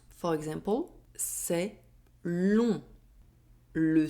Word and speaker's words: long: As final letter of a word, the letter G is not pronounced. For example, c'est long.